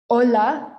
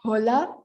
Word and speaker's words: hola: compare it to okay the h in spanish is silent so you'll see in the bottom left hand corner it says something that looks like hachi it's actually pronounced aceh we omit the h so you'll see our first spanish word is ola not hola ola the h is silent then we have iha